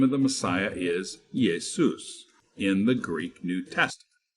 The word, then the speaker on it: Jesus: are familiar with today so yesus came to be pronounced Jesus so the modern name